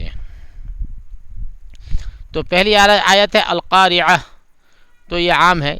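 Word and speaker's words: القارعة: تو پہلی آیت ہے القارعہ. تو یہ عام ہے، اس میں قاف کا دھیان رکھنا، قاف ٹھیک سے نکلنا چاہیے، اور عین یہ دونوں جو ہے تلفظ تھوڑا ہارڈ ہوتا ہے.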